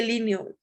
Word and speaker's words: Linné: Este de Linné se escribe, se dice Linneo, ¿ok?